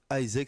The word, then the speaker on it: AIESEC: on est avec une petite association qui s'appelle Isaac si je me trompe pas ça se prononce comme ça ouais et alors je laisse